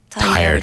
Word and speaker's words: tired: week despite being tired tired one syllable tired former time I